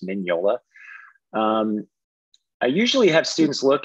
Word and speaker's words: Mignola: The MG is pronounced like an NY, so it's Mignola.